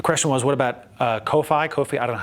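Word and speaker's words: Ko-fi: if my the question was what about uh Kofi Kofi I don't know how to pronounce KFI sure yeah coffee it's still a donation platform is there a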